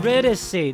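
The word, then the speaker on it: Eurydice: thus Begins the tale of aus and youry Ury that's how you say it it's a love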